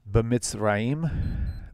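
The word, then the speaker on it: בְּמִצְרַיִם: B'mitzrayim, b'mitz, E, it's a E, chirik, makes it E like feet, b'mitzrayim, right?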